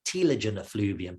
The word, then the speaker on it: telogen effluvium: There's all these stresses, and these stresses really do lead to usually a temporary hair loss, a telogen effluvium, or as the Americans say, a telogen effluvium.